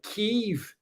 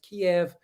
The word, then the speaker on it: Kiev: D is saying you pronounce Kiev with a silent E.